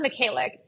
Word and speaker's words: Mykhaylyuk: Today we have our good friend, Naz Mykhaylyuk. Naz, did I pronounce that correctly?